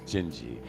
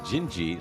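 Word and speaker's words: Dindi: This is Gingy. Now, it is, weirdly enough, this record is pronounced Gingy, like G-I-N-G-I. Yeah. However, it is spelled D-I-N-D-I.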